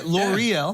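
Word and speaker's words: L'Oréal: Okay, L'Oreal.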